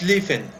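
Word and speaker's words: Schlieffen: alemania tenía un plan que era el plan li feng se lee es lee efe pero se pronuncia es li feng es en alemán este señor alfredo font stephen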